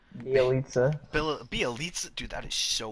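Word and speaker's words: Bjelica: I mean, do you really want Beljinka, or however you pronounce his name? Bielitsa. Bielitsa? Dude, that is so weird. It's so weird sounding. It sounds nothing like how it's spelled.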